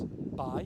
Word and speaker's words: Bae: made of two parts B which means a bay and because it was borrowed from Middle English which pronounced B like by it said B in Welsh and then we have